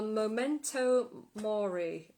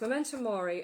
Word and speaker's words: memento mori: oh yes that's it it was called a momento mori i think uh yes memento mori and the point of